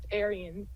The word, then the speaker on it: Ariens: It's Ariens. Oh, so the E is pronounced.